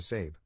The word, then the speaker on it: Sab: To cut right to the chase, I legally changed my name to Sab, pronounced like Abe, but with an S.